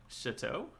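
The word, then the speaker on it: château: was the emp what what syllable did you emphasize there chateau that's how you say chateau it sounded it it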